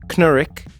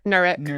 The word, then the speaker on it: Knurick: I thought it was Knurick, and then someone else was like Nurik. Nurik. Which one is it? It's closer to the second one. It's Nurik. It is Nurik. Yeah. The K is silent like knife.